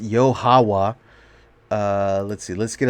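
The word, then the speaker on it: YaHoWha: a lot of people's wives yeah it's father yard uh or actually pronounce it's pronounced yohawa uh let's see let's get a little into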